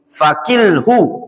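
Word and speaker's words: فكله: Kata Syekh Rabi', apa yang engkau ketahui alhamdulillah, wa ma lam ta'rifhu, dan apa yang tidak engkau ketahui fakilhu, itu bacanya kilhu, wakala yakilu, wakil fakilhu, maka serahkan perkara tersebut ila alimihi, kepada yang tahu.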